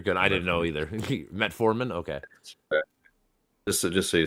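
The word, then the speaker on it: metformin: have a a fake version of it called metaformin which costs about 100 bucks a year if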